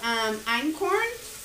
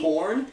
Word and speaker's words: Einkorn: So the other two were called Einkorn, E-I-N-K-O-R-N, and like I am going off of these phonetically. Like Einkorn? Like the band I Am Corn? No, Einkorn.